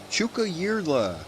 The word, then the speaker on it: Tjukayirla: believe it or not, I'm saying it properly. I looked it up. The Tjukayirla Roadhouse. You know, Tjukayirla. It begins with a T and a J.